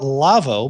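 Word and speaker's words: LAWO: So we call it Lavo, but it's spelled L-A-W-O. They make a console that is really interesting.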